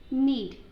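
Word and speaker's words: knead: Next word 431 नीड। नीड में के जो है वो साइलेंट होगा।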